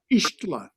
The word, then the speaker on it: Ixtlan: Ixtlan is how it's pronounced.